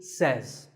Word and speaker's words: says: says this word is commonly mispronounced by people learning English as say but remember I say you say but he or she says number three is ETC